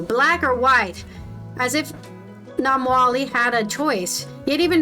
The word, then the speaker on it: Namwali: Namali, wait, what did I say her name wrong again? Namwali has a Zambian mother